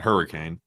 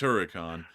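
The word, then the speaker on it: Huracán: It's not hurricane. It's not Hurricane, it's Huracan. Like a Lamborghini. You know the Lamborghini. The Huracan, you know, it's spelled a little bit different. It's spelled H-U-R-A, accent sign, C-A-N, Huracan.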